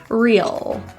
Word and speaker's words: real: To pronounce this word, feel the tip of your tongue touching the roof of your mouth for a full contact. Real.